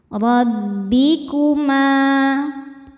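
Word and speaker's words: رَبِّكُمَا: Rabbikuma. Ma hukumnya mad tabi'i dhahiri sebab ada alif didahului baris fathah, maka bacanya panjang 2 harokat.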